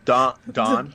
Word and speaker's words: Don: No, Don. So say it like say like it Dawn. better for me, because I'm gonna screw it all up with my accent. Here, I'll teach you. Okay. How do you probably say it funny, but how do you say, when the sun comes up in the morning, it's dawn? Dawn. Yeah. Just like that.